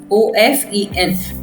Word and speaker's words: often: First is often, OFTEN, often, ठीक है। यहाँ पर T साइलेंट होता है, इसलिए हम इसको पढ़ते हैं often, OFEN, पर लिखते हैं स्पेलिंग